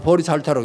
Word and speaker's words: 보리살타: 보살이라는 건 뭐냐면 보디사트바, 보리살타, 우리말로 하면 보리살타라고 읽습니다만은 깨치기는 깨쳤대.